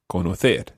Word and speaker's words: conocer: All the infinitives always are stressed on that last syllable. So it's saber, conocer.